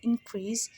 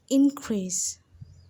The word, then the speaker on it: increase: noun and a verb when you're using it as a noun the in in increase is stress more let's say together increase increase you see how